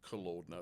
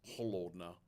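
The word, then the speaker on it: холодно: And I just learned it's not pronounced kolodna, it's holodna.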